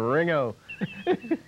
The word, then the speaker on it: Ringo: It wasn't Ringo. They never got the whole G out. It wasn't a hard Ringo. G. It was just kind of a soft G. All running together. Ringo.